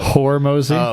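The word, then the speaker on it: Hormozi: Hormozy?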